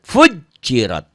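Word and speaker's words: فجرت: Itu kalau orang yang baca Quran tuh kadang-kadang tasdid ini nggak mau dibaca pujirat, padahal ini double fujirat.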